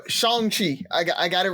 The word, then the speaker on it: Shang-Chi: just want to say Shang Chi Shan chi I I got it right they actually explain how to say his name inside of the movie so it is uh shangi and uh it is